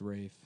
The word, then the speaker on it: Ralph: It's pronounced Rafe, but it's spelled like Ralph.